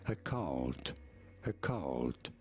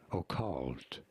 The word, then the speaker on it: occult: There are two different ways of pronouncing it, slightly different ways, as occult, or with a clearer O sound as occult, a stress on the second syllable.